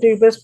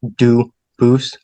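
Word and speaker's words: Dubois: They do pronounce it dubis, but you said you pronounce it dub as the original dub boo as the original French.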